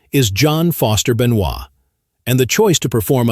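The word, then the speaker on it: Benoit: According to the Cinjun tradition, the name Benois, which is pronounced Benois, is a tribute to his French ancestry.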